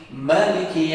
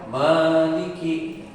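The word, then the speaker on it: مالك: Boleh dipendekkan. Jadi bukan Maliki, boleh itu, atau dengan Maliki Yaumiddin. Artinya beda kan?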